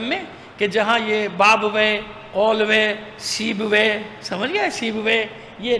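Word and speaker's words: قولویہ: کو بتا دیا کہ بعض اوقات لوگ اس کا تلفظ صحیح نہیں کر پاتے، بابوے کو بابویا پڑھتے ہیں، کیا پڑھتے ہیں؟ بابویا، سیبویا، قولویا، یہ نہیں ہے، بابوے، قولوے، سیبوے۔ صلوات بھیجیے محمد آل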